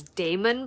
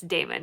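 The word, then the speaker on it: Daemon: throw me off is I've always pronounced Dawson's brother's name as Damon Black, just because that's how it, you know, in my mind when I saw it on the page, that's how it read to me. But the narrator's pronouncing it Demon Black.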